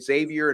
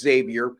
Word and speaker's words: Xavier: Xavier in Villanova I I've been pronouncing it Xavier in a past and there was one of our uh Watchers or subscribers I should say they're corrected me it's Xavier he went there so